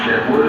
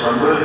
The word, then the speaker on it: شمول: ایک بیٹا پیدا ہوا جس کا نام شمول بھی ہے اور سمول بھی، دونوں تلفظ جو ہیں وہ تفسیروں میں آئے ہیں۔ یہ جب پیدا